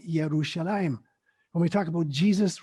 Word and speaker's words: Yerushalayim: were German scholars, and in German, J is pronounced like a Y. And so, for instance, our good friend, Jonathan, his name is spelled with a J, but it's pronounced Jonathan. When we talk about Jerusalem written with a J, in Hebrew, it's called Yerushalayim.